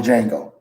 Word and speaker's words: Django: One of the most horrible, greatest movies that you could ever watch is called the Django, because the D is silent.